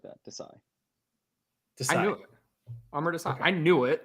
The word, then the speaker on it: Amar: So say summer and then take away the S, Summer. and that's how you say it. So Amar. Amar. Yeah. Amar.